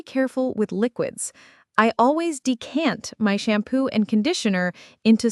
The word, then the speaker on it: decant: To decant, spelled D E C A N T, means to pour a liquid from its original, larger container into a smaller one. The stress is on the second syllable. Decant.